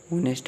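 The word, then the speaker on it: honest: और ही इज़ एन ओनेस्ट में, तो यहाँ पर ओनेस्ट को हम इस तरीके से लिखते हैं, क्योंकि यह साइलेंट होता है, तो ओनेस्ट इस तरीके से हम लिख दें।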